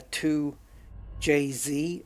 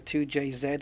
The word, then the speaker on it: 2JZ: want to say that it has a uh a 2 JZ engine instead of a 2J Zed engine I'll let it go you can have that cuz you guys say Z we we say Zed I'll let that go